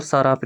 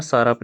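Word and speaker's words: Tsarap: इसके बाद और एक रिवर आता है कारयुग, कारयुग रिवर, और साराप रिवर, टी रहेगा साइलेंट इसमें, साराप रिवर, पता नहीं लद्दाख वाले इसको क्या बोलते हैं, साराप रिवर।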